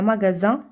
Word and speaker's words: magasin: إذا هنا عندنا magasin عندنا S ونطقناها Z.